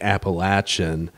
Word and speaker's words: Appalachian: area call it Moog it's like Appalachian Apple when when someone says aprilation appellation people lose it like oh no yeah